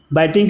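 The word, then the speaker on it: biting: ये देखो इसका प्रोनाउंसिएशन बाइट बिट बिटेन होता है, तो बाइटिंग भी पढ़ते हैं लोग, विटिंग भी पढ़ते हैं, हम बिटिंग कर रहे थे, बाइटिंग कहिएगा।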